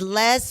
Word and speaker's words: Les: documentary now last not Lee I said it wrong it's Les Wexner so Les Wexner was